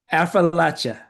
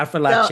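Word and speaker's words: Affrilachia: Affrilacia. Okay, Appalachia. It's like I'll throw an apple at you. So Affrilacia. it's almost like I it's four like that. syllables. Appalachia. It's four syllables.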